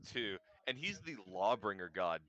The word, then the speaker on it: Tyr: pronounced two.